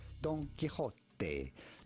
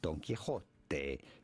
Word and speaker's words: Don Quixote: Spanish pronunciation, the X in Spanish is pronounced like a J, like a J. So you have to say Don Quixote, Don Quixote. You do want to stress on the middle.